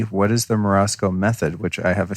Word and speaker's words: Morozko: that yeah so uh marotzko uh which is the way i pronounce it i don't i haven't really heard very many questions write in and tell us that's right yeah i had to try to say with a russian accent it's a it's a